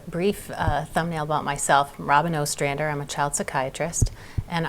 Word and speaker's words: Robyn Ostrander: Brattleboro Retreat and we're pleased to have Dr Robin asander here did I get your name right you